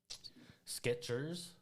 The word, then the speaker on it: Skechers: Skechers. There's no T. Skeechers? That's most people have been befuddled to see that there's no T in Skechers.